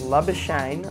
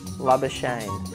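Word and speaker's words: Labuschagne: we should explain it love a shame like champagne so like champagne love a shame that's the perfect pronunciation if you stick with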